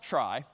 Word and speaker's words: trie: for retrieval somehow t r i e but pronounced try and this one's kind of cool because this